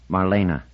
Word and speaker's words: Marina: He pronounced it correctly. Three syllables. Marina with a little trill to the R.